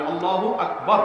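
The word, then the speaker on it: الله أكبر: আল্লাহু আকবার উচ্চারণ করার সময় আকবারের রাকে টেনে পড়া ঠিক হবে কিনা, না ঠিক হবে কেন, তাজবীদের সাথে বলতে হবে আল্লাহু আকবার আল্লাহু আকবার, এরকম বলা যাবে না।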